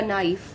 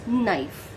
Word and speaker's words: knife: knife it's not a knife because k is silent over here it is knife now the third word